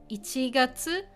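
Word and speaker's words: 一月: Now it's pronounced ichigatsu, ichigatsu.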